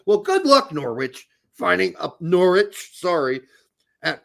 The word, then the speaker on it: Norwich: good luck Norwich finding Norwich sorry at In 1832 they stopped pronouncing the r in Norwich supposed to not pronounce it anymore I think we talked